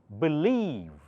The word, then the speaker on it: believe: that's the accent symbol the syllable after that must be pronounced louder so try pronouncing this believe B short B leave